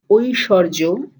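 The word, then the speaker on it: ঐশ্বর্য: So Aishwarya becomes Oishorjo. This is a real difficult to identify kind of change. Aishwarya to Oishorjo.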